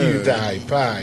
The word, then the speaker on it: PewDiePie: PewDiePie is what they say.